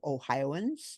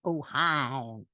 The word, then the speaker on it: Ohioan: living here in Ohio Ohioans and outside of Ohio let's hear how to pronounce this word ohioan not oh hi all right thank you